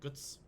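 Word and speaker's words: Götz: calls him guts guts it's g-o with the um loud over it TZ and that's pronounced like guts if they've clicked this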